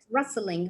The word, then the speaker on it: rustling: Rustling. The T here is silent.